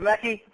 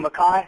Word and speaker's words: Mackey: Now, Dr. Mackey, or Mackay, depending on how you say it, is the Dean of Engineering at the Engineering Institute of Technology.